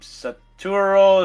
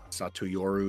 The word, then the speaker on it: Satoru: can't pronounce this name saturo Sakamoto satoru Sakamoto thank you um so he's early